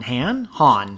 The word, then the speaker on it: Hahn: A takeaway food place was selling human meat and is still haunted by Tom Hahn. Han is how they say it.